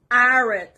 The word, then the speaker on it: arid: Next word is arid. Arid. The stress is on the first part.